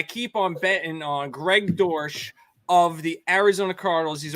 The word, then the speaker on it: Dortch: on betting on Greg Dorsch of the Arizona Cardinals he's a wide receiver his name is Greg Dortch and it rhymes with porch I gotta get it